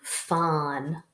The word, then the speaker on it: phon: Fawn, like phonics, means sound.